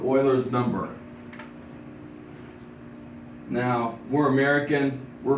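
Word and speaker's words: Euler: is ul's number because EU will give us uler um but if you're over in German or in Europe that would be an Oiler idea um so this is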